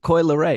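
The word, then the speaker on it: Coi Leray: Is it Coily Ray?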